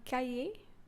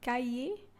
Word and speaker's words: cahier: Exercise book, un cahier. So the H is silent, un cahier.